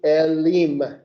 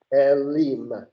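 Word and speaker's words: אֵלִים: and it becomes Elim. That's how you pronounce it. Elim.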